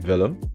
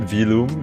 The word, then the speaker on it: Velum: I'm Velum. Velum. And you can pronounce it Vilum if you're weird. But I accept that. If you pronounce it Vilum, that's cursed and never do that again.